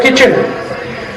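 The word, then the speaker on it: kitchen: दो व अगर साइलेंट अंग्रेजी का एक शब्द किचन स्पेलिंग क्या है के टी सी तो किट चन किट चन किट चन होना चाहिए वता नहीं टी साइलेंट है तो क्यों घुसा हटा दो उसको बाहर है मूर्खता नहीं लिखा हुआ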